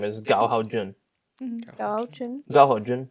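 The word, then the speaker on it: Ta Chien: Da Chen. Dachen. But it's spelled T-A and then C-H-I-E-N. But so people say like You want to tell Ta-Chen.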